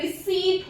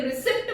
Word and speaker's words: receipt: वो आपका इंग्लिश में रिसीट होता है. रिसीट, रिसीट, पी इसमें कोई साउंड नहीं आती. अगर आप इसके रिसिप्ट बोलते हैं तो वो बिल्कुल गलत प्रोनाउंसिएशन होगी.